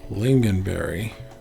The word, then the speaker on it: lingonberry: how pronounced this word the word you see is sounds like lincoln berries okay that one said the way that i said it so that's fine lingonberry yeah come on i